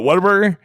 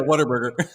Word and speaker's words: Whataburger: Whataburger? Yeah, Whataburger. Yeah. There we go. That's how you say it. What a burger.